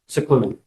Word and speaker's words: Sicclun: Sicclun. Okay, it's pronounced as if it was S I C.